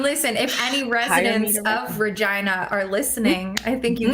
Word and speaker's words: Regina: spelled like Regina, but it is in fact pronounced Regina.